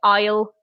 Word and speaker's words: aisle: word everybody struggles with so the S is completely silent we just say aisle very similar to when you contract I will aisle and this is away